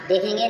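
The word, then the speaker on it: though: दो, दो मीन्स हालांकि या यद्यपि, या क्या होता है यद्यपि, यद्यपि या हालांकि, यहाँ GH साइलेंट है।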